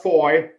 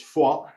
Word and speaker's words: Foy: on that m30 is for that's how you pronounce it ladies and gentlemen it's not foy erase that from your memory it's fall and the next one is novel which is